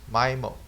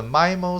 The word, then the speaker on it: MIMO: input and multiple output mimo solution multiple input multiple output communications a re abbreviated mimo and normally pronounced like my mode refers to a collection